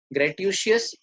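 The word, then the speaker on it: gratuitous: नॉन ग्रेटिशियस, इसमें श कहीं भी नहीं है, SH, पर आपको मालूम है ऐसी बनती है प्रोनाउंसिएशन।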